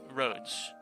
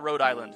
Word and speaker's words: Rhodes Island: Oh, it actually is pronounced with the S. Rhodes. I'm just gonna call it Rhode Island because I'm an American and that's what my tongue is literally used to.